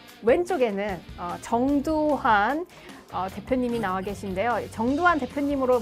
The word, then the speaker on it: 정두환: 근데 정두환 그 발음할 때 좀 조심해야 돼. 왜냐하면 잘못 발음하면 정반대 인물이 나와요.